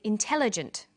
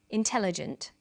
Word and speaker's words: intelligent: come across longer words you have to learn which syllable to stress for example we say intelligent increasing and markedly notice that when you